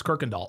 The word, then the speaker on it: Kirkendall: Oh, Brandon M says in Texas, that's how we pronounce it. It's Kirkendall. Oh, okay.